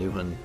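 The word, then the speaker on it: Nehwon: Lankhmar and Nuwan, I think is how you say it, Nuwan, and that is a box set you can get.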